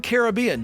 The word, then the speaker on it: Caribbean: Yeah, they said it's Caribbean.